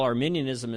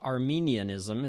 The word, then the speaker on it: Arminianism: First of all, Arminianism is not Arminianism. It's not people from Armenia. I hear that mispronunciation all the time, and I just want to make that clear to anyone who doesn't have any idea.